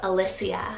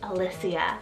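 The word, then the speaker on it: Elysia: name in ancient crete and then i have alicia spelled e-l-y-s-i-a alicia and this one means from elysium or island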